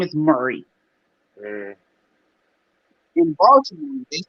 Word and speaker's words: Baltimore: They don't say Baltimore. They don't pronounce. Ain't no T. It's like a D up in that joint. Baltimore.